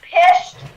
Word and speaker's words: Pished: That's Philip, and this is Laura, and we are Pished Paranormal Investigations with 3 P's, PPI. We're out of Not Fort pissed, Scott. like I said. It rhymes with fish. It rhymes with fish, but it's Pished.